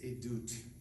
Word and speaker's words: edut: In Hebrew, the word is edut. In English, we would spell it E-D-U-T.